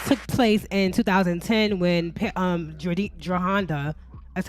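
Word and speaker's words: Jerhonda: the alleged abuse took place in 2010 when Jahanda, that's how you say her name, Jahanda was actually like 15 years old at the time.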